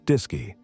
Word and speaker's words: DSKY: The AGC interface was a display and keyboard unit called the DSKY, pronounced DISY.